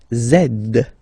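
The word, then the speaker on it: zède: and the last one zed zed okay so remember to pronounce this D at the end zed zed okay so let's see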